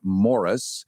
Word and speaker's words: Maurice: can Google him and it's spelled like Maurice but pronounced like Morris so you don't run